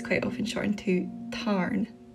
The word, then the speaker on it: Tarn: And in the book it's quite often shortened to Tarn. Tarn.